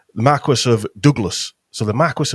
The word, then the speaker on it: Marquis: the Dukes of Douglas and the Marqu Marque Marquest, whatever you want to call it. I got bollocked by somebody for that the other week, pronouncing it wrong. the Marquis of Douglas.